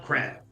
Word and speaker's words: Crab: Well, if you haven't heard by now, as I am popular around the camp, I'm Crab, rhymes with hat.